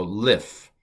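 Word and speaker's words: מִלִּפְנֵי: So mil, li, and then this is a pay, no dagesh, so it's pronounced f, so lif.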